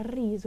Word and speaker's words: riso: essa também interessante porque riso com essa pronúncia do Erre a riso e não riso e